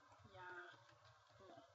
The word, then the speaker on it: llamo: So whenever you see two L's together, you pronounce it like a Y.